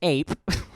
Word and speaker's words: AIP: We've created the Ads Incentive Program, or AIP, pronounced APE.